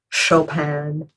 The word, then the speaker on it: Chopin: sound super posh I know it was things Chopin that's how you pronounce the composer but I don't I don't